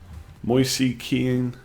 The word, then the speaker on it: Moise Kean: Moise Ken, is that right? Moise Keane, pronounced Ken.